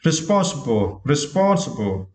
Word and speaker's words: responsible: And next word, yeah, and for this word, you need to stress the second syllable, spawn, okay? Responsible, okay?